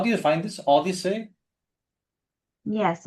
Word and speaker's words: OHDSI: Odyssey? Yes, it's spelled OHDSI.